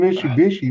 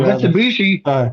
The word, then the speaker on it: Mitsubishi: Well, it's like Ford and Mishubishi, man. Freaking Well, Mitsubishi.